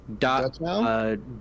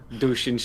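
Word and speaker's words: Dachshund: I always hate having to say this name because I can never pronounce it. It's inspired. That's Dutchhound? Yes, Dutchhound. Thank you. I was like Dushin I was like, that's not right at all.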